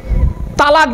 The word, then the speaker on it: তালাক: বা গালিগালাজ করতে গিয়ে তালাক দেয় তাই না শব্দটা তালাক নয় শুনে নিন শব্দটা কি শব্দটা তালাক নয় শব্দটা হলো তলাক কি বললাম তলাক তলাক